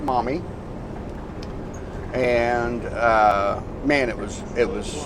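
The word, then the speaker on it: Maumee: a local brewery called mommy and it's m-a-u-m-e-e but it's pronounced mommy and uh man it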